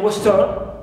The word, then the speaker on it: western: Like in western, we stress west, right, west and not turn.